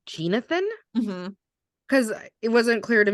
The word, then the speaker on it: Jeenathan: not clear to me necessarily by the way it's spelled. So he goes by Nate. So it's Jeenathan, but Nathan for short, and Nate shorter than that. Yeah. Yeah. It's Jeenathan. So Nate, Jeenathan, Nathan, if you're listening and we have it